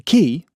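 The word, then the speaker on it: quay: The key spelled qu u a y but pronounced keyi apparently was surrounded by aged buildings of yellow and pink sandstone.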